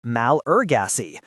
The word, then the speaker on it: Malagasy: Take the word Malagasy, for example. In French, it is pronounced malgache, but in English, it's pronounced malurgacy.